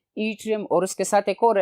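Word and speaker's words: Yttrium: त्रियम ठीक है स्टूडेंट्स वा डबल टी से इसकी स्पेलिंग शुरू होगी लेकिन प्रोनंसिएशन इसकी है त्रियम और उसके साथ एक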